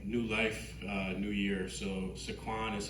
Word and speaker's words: Sequan: So Sequan is how you say it in Pequot.